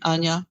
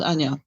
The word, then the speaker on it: Anya: For example, Hlis for Elizabeth, or me, Anya, for Anna. I like to be called Anya.